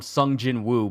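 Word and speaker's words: 성진우: For so long, I've called him Sung Jin-woo, but it's Sung Jin-woo. That's how they pronounce his name.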